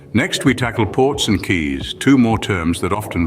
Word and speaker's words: quays: or lake now let's look at keys pronounced Keys these are structures built